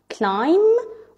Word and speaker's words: climb: MB, لما تكون موجودة الكلمة فيها آخرة MB, always the B is silent. Such as climb or lamb.